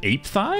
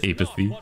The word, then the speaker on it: apathy: What was it? Ape thigh? Is that how you pronounce it? No, no, it's fucking... I actually believe that for a second. Yeah, it's apathy.